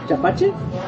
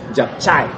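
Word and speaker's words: japchae: Japachi? Japchai. Japchai. How do you say that? Japchai. We all said it wrong. I'm reading it like gazpacho. Yeah. Totally not right.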